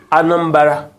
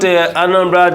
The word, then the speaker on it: Anambra: The original pronunciation from the people is Anambra. Okay. So it's not Anambra the way we anglicize it.